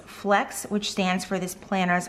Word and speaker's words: FLX: has two meanings and flx pronounced is flex which stands for this